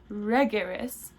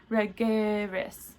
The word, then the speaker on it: regeris: These two forms are distinguished audibly and visually by the accented syllable. So in the present tense, we would say that regeris, whereas the future tense is regeris.